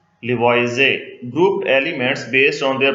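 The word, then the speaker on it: Lavoisier: फिर 1789 में एंटोने लिवॉइजे, ये ईआर यहाँ पे साइलेंट है, लिवॉइजे group elements based on their properties into gases, non metals, metals and earth's.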